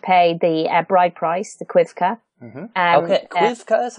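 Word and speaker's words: coibche: So, they would get married and he would pay the bride price, the quivka. Mm-hmm. Okay. Quivka is how you say it? Yeah. Okay, quivka. Okay. Yeah, it's C-O-I-B-C-H-E, but it's pronounced quivka.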